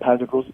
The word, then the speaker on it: Pantagruel's: Am I saying, is it Pantagruel's Nativity? Is that how you say it? Yep, Pantagruel's.